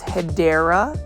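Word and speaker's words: Hedera: Helix this one is the correct way to say it is hyera Helix English ivy this is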